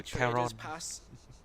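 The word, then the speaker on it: Charon: Giờ ở đây thì gọi là Karen nhé, nhưng mà nếu mà chơi trong Hades ấy, cũng tên y hệt, viết y hệt như thế, đọc là Caron.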